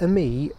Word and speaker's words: Ami: panel of moulding so the amii or as i probably say in this video amy because i'm used to the british pronunciation is a quadricycle which